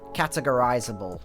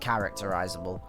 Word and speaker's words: categorizable: Categorizable, not characterizable.